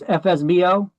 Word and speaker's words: FSBO: You ever see this FSBO? We pronounce it as FSBO.